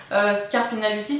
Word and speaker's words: Scarpina Beauty: Scarpina Beauty ça va très bien.